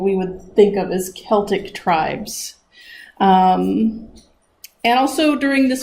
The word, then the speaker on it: Celt: take it away Vanna so who were the Celts I kind of went over all of that